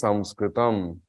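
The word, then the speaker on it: संस्कृतम्: really want to say what Sanskrit it is samskritam and this word has to be understood at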